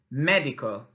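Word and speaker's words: médico: Now, you'll notice there's an accent on the letter E of medico. What does that mean? Estupendo. It means that we need to really stress that sound as we say it.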